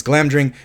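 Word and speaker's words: Glamdring: I get this wrong it's clam during right yes that is Glam drink which is which is um uh I'm pronouncing that right right yeah uh Glam drink uh which is Gandalf's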